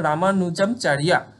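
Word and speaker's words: রামানুজাচার্য: সেই রামানুনামচারিয়া কিন্তু রামান স্পেলিংটা হলো গিয়ে প্রোনাউন্সিয়েশন হলো রামানুজামচারিয়া রামানুজামচারিয়া কিন্তু অর্গানাইজ দা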